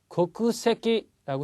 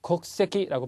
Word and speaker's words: 国籍: 다음에 나오는 게 거쿠세키라고 쓰여 있지만 곡세키라고 발음한다라는 거 오케학상하고 똑같습니다.